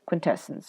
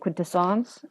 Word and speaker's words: Quintessons: started with the Contras quintessence right or I think it's eight quid two songs I've heard I've heard it pronounced two different ways I think it is Quinta songs then with of course